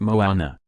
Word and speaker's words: Moana: When Mona, pronounced Moana, sails into theaters November 23rd, it will have its world premiere November 14th at a Fairfest.